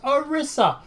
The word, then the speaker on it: Orisa: us yet another new character and it is pronounced orissa and the only reason I know how to